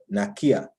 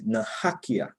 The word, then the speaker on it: nakia: In Arawakan, we say nakia. And the other pronunciation is nahakia.